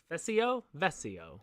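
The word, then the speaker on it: Vescio: his mig-21 Nick vessel vessio it's v-e-s-c-i-o yeah SEO SEO I don't think you pronounced the C in that instance sounds Italian might be Italian I don't know close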